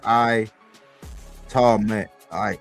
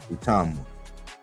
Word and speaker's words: Itauma: And I probably not pronouncing his name right cuz it's I to I like by the pronunciation, but I'm going to call him Utama cuz that's easier for me to say.